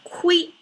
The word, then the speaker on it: 亏: shape this is more squiggly almost um it's pronounced as qui and it means one of the many meanings means loss means at loss lo or you're losing something.